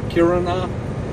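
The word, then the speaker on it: Kiruna: No, it's all the freaking way up to Karuna or Kirina as it is called.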